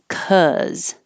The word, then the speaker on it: cause: Cause. This is cause, cause. Caw, open your jaw more, keep your tongue flat.